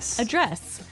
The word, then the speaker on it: address: Address. Now, if you notice, it's spelled the same way as address. That's right. But you pronounce it differently. So the verb address has the stress on the second syllable.